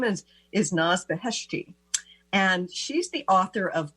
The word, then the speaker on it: Naz Beheshti: I'd like to welcome our guest today, Naz Beheshti. Hi, Naz. Hi, Christine. I hope I'm pronouncing your name right. Oh, you pronounced it perfectly.